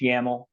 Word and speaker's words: YAML: grading this is a yaml file yml it's pronounced yaml um this is a